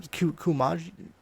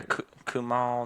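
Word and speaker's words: Kumail: Kumaj? Oh yeah, Kumal Nanjiani. Yeah, Kumal.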